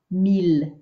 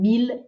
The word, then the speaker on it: mille: Those ones are pronounced not as an I-L-L sound, but just as an L sound. So ville and mille, keep pronouncing them the easy way with an L, but here we're working on that, this sound.